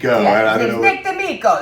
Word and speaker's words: Demo: Nick Demo. That's his real name. Just you got to say it like you're Italian.